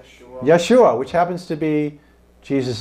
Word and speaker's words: Yeshua: mean yes and what how do you pronounce it Yeshua which happens to be